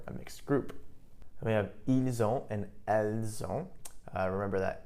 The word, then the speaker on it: ils ont: Ils ont, and notice here we have the liaison, we have a link. So we have ils ont, notice the pronunciation, the S actually does get pronounced this time.